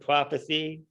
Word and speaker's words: prophecy: So if you see a C, the letter C, you pronounce it prophecy.